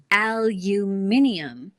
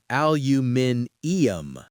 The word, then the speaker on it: aluminium: The British version has an extra I in the spelling, so they add a whole extra syllable. Aluminium.